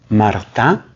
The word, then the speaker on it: Martin: llamaba Celia su apellido Marta se pronuncia en francés se escribe Martin ellos